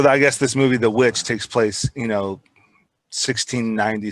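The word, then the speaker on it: The VVitch: called the witch and it's spelled with two v's so it's it's like spelled vv icch but really it's supposed to be the witch but i think it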